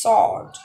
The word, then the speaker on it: sword: sword is sword sword because the letter w is not pronounced and it's silent now rag rack in